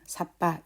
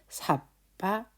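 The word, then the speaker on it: sabba: 그래서 그냥 삿바 이렇게 1 이런 길이의 그 발음이 아니라 삿바 이렇게 조금 더 길게 발음을 하는 그렇게 이해를 하시면 될 것 같아요.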